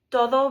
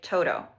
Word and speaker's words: todo: when I say todo it doesn't sound like Toto, which is what we would expect because of how we say the d sound in English, d.